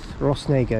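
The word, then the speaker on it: Rhosneigr: naga um so yes ross nager it's called it's a station that if you say it wrong could sound horrendously controversial um but luckily we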